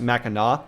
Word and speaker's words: Mackinac: actually spelled like this, like Mackinac, but it's pronounced Mackinac.